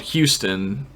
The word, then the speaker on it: Houston: Like I played, like I lived in a town called Houston, but it was spelled like the last name Hughes, Ton, That's so confusing, and man.